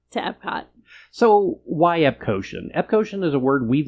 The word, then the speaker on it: Epcotian: Cosmic Rewind and they started using the word epadian. I'm sorry. Epcotian is still the correct pronunciation.